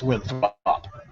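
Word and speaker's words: Winthrop: or three yeah that's wi throp you have to give it the ESPN pronunciation WI throp mhm mhm yeah it's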